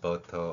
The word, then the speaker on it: butter: 자, 먼저 현재의 한글 표기로도 butter 혹은 butter라는 발음이 가능합니다. 영어에서 t가 모음과 모음 사이에 있을 때는 어 발음이 납니다.